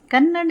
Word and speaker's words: ಕನ್ನಡಿ: ನಮಸ್ಕಾರ ಕನ್ನಡ ವರ್ಣಮಾಲೆಯಲ್ಲಿ ಸ್ವರಗಳನ್ನ ತಿಳ್ಕೊಂಡ್ವಿ ಈಗ ವ್ಯಂಜನಗಳ ಉಚ್ಚಾರಣೆ ಹಾಗೂ ಬರವಣಿಗೆಯನ್ನ ತಿಳಿದುಕೊಳ್ಳೋಣ ಕ ನ ಒತ್ತಕ್ಷರ ಇದೆ ಒತ್ತಿ ಹೇಳಬೇಕು ಬೇಕು ನಾವನ್ನ ನ ಡಿ